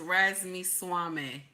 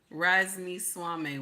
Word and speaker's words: Ramaswamy: Okay, so his name is pronounced Ramaswamy. Ramaswamy.